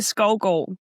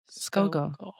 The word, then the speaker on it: Skovgård: And for me, Skovgård. Skovgård.